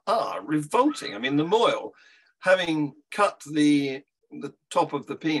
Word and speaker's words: mohel: Moil, thank you. Moil, pronounce moil.